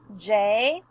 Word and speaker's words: Jonathan: He has 3 syllables in his name. Now our next step is to name the letters in his name. J-O-N-A-T-H-A-N.